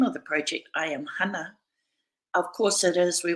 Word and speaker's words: Hana: But when she was going to school, she was constantly having her name pronounced as Hannah or misspelt to H-A-N-N-A-H. And her father reminded her of the importance of correcting people about the correct pronunciation of her name.